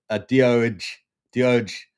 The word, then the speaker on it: doge: Right, we got Brian in here going dooj dooj dooj. It's pronounced doge doge do.